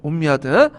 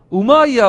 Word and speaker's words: 우마이야: 옴미아드. 근데 이제 책에서는 요즘에 옴미아드 왕조가 안 하더라고요. 우마이야 왕조라고 하죠. 우마이야 왕조. 근데 제가 배울 때는 옴미아드 왕조 배웠어. 이걸 영어식 발음인데 최근에는 이걸 또 아랍식 원어 발음을 이렇게 쓰기 때문에 좀